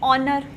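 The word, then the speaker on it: honour: नहीं लगाते, एन लगाते, क्योंकि एच हम कह सकते हैं साउंड साइलेंट है। जैसे कि ऑनर है ना, एन ऑनर, Eyre, आवर glass, then हम लोग बोल सकते हैं ऑनेस्ट मैन, है ना। तो एन ऑनेस्ट मैन, यहाँ पर एच साइलेंट बोल सकते हैं या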